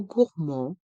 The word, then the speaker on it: gourmand: gourmand un café gourmand dans le mot gourmand le D est muet gourmand un café gourmand